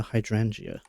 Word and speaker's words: hydrangea: Should just start pronouncing it with the soft G.